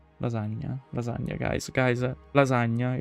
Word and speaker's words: lasagna: Lasagna. Lasagna. Lasagna. Guys, guys, lasagna. It's lasagna. Please pronounce it correctly because otherwise you heard an Italian and Italian is me.